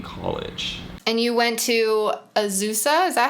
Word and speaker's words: Azusa: And you went to Azusa?